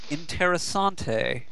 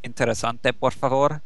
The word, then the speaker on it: interesante: oh whatever uh o interasante or fa I have a friend who by the way that's that's a mispronunciation of interesante which means interesting please thank you for